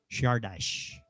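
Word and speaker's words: Csárdás: the song or the tune this is called shardash correct julie shardash there you go i won't say it anymore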